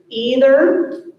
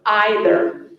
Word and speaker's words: either: Okay, this word has 2 pronunciations, so I'm going to say both. The word is either or either.